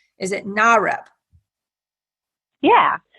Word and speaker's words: NAREP: Is it NAREP? Yeah. NAREP is the National Association of Hispanic Real Estate Professionals.